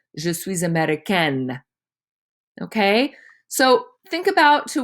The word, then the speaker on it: américaine: If it was said by a girl, there would be an E at the end and it would be pronounced je suis américaine.